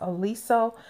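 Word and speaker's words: Oliso: And of course, this is always on my wish list is pronounced Aliso, the smart iron that pops up when it's just sitting down.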